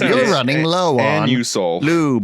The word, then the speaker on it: Anusol: I got to say I'm going to use that pronunciation for annol. It's anusol.